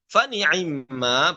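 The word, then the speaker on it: فنعما: Nah, fani'imma pada kata fani'imma dengan dua cara, dengan dua cara baca. Yang pertama, ikhtilas harokatul ain. An-nutqu bisulusai al-kasroh wa huwal muqaddam. Bagaimana? Fani'imma ya dengan ikhtilas harokat ainnya fani'imma ataupun dengan iskanul ain fani'ma ya ainnya tetap dibaca langsung tapi mimnya langsung tasdid fani'ma ya kemudian wa yukaffir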